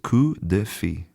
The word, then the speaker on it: coup de fil: Now, I haven't studied French since high school, so maybe my pronunciation in general is not great here, but I believe that it's coup de fil.